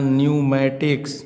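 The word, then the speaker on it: pneumatics: फिर यहाँ न्यूमैटिक्स माने वायु स्वास्थ्य, पी के बाद देखिए यन आ रहा है तो पी का उच्चारण क्या हो जाएगा, साइलेंट हो जाएगा।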